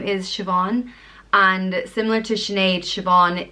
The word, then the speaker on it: Siobhan: name so that's Mairead the next name is Siobhan and similar to Sinead Siobhan is derived from the name Jane's so they both mean God is gracious it's pronounced Vaughan ship on Siobhan is spelled s io b h KN on it